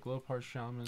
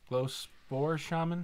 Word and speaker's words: Glowspore Shaman: You got the Glowpart Shaman. Glowpart Shaman? Glowspore Shaman.